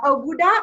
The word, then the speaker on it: Oggudah: to have her her name is uh oguda is that how you pronounce it yes it is that's how you